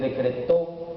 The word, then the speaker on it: decretó: Es decretó que lleva acento en la O.